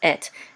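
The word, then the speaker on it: את: And this is the aleph and a tav, and this right here again is a segol, and this says et, and et is a direct object pointer.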